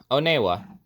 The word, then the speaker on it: Onewa: uh when you oh sorry not wanua oneewa I might mess up